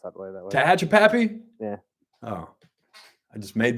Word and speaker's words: Tehachapi: I just never heard Tehachapi pronounced that way. Tehachapi?